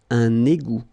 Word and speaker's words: égout: Final T not pronounced. Un égout.